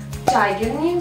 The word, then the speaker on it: Tigernu: Сегодня хочу познакомить вас с магазином Чагерни. Вроде читается это название так, а именно хочу познакомить вас с рюкзаком.